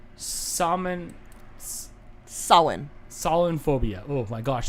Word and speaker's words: Samhain: That's actually pronounced Samhain. A what? Samhain.